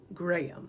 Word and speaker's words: Graham: this name is pronounced Graham and I would say Graham. But since this is a Scottish baby name list, I think we all should pronounce it the way they say it in Scotland, Graham.